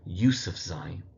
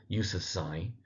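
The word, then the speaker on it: Yousafzai: We then have Malala Yusf Zai. So Malala Yusf Zai. and the Z in the surname. That third syllable surname gets the emphasis.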